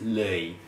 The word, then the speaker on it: Loei: to that guy and he said it's Le so that is I think the perfect pronunciation of where we're going